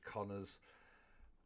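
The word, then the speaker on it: Kanner: 1943, Leo Connor, pronounced Connor, I believe.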